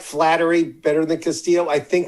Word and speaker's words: Flaherty: His name's Flaherty. But when you say it Flattery, Flattery will get you everywhere.